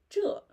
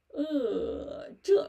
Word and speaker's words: 这: So you can say 这 zhi, 这 raise your tongue when you pronounce 知 and spread your lips.